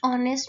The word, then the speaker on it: honest: 15, dash ऑनेस्ट मैन is respected by ऑल। ऑनेस्ट के साथ हमारे पास एच इज साइलेंट, ओ की वोवल की साउंड आ रही है तो एन ऑनेस्ट मैन।